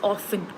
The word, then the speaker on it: often: is silent right but often is pronounced both ways right uh no I so as far as I know often is pronounced with t as silent okay we don't pronounce